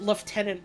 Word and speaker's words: lieutenant: you bring up Lieutenant I've literally never heard anyone pronounce it liutenant until I watched Columbo which is very funny